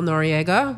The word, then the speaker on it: Noriega: found I'm the real Noriega my last name is spelled NO r e i GA yeah it's like nori the rapper right you